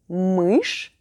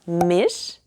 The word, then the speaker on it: мышь: Now, did you remember to use between m and sh? I know, after all these years of speaking English, you may be tempted to use one of the vowel sounds you learned as a kid. Don't. You don't want it to sound like mish or mish, unless you're trying to